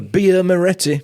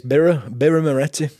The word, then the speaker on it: Birra Moretti: Because we say beer Moretti because we go, well, it's a beer, so that must mean the word beer. No, it's birra. It's Birra Moretti.